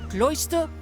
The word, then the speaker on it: cloister: let you know that Cloister rhymes with moisture why ah I skipped